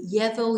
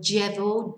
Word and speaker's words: llevo: Now remember, you can say ye or j, so it can be llevo, llevas, lleva, llevamos, llevais, llevan, or llevo, llevas, lleva, llevamos, llevais, llevan. Both those pronunciations are okay.